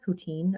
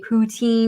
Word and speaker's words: poutine: Like I have to say poutine because that's like how like most Americans say it, but it's actually in French poutine. What? Poutine. Poutine. Good bless you. Yeah. It sounds like a sneeze, a very delicate sneeze.